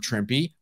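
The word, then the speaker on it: Trimpe: larry hama and herb trimpy rhymes with shrimpy i'll never forget that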